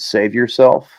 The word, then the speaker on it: Savior Self: soon after Courage, called Save Yourself. And it's spelt Savior Self. So not like save your, but save yourself.